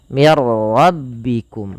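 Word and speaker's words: مِنْ رَبِّكُمْ: Nah, pada lafal mir rabbikum hanya idgham saja. Idgham itu memasukkan. Maka nunnya dimasukkan ke ra dan tidak boleh ditahan. Mir rabbikum saja.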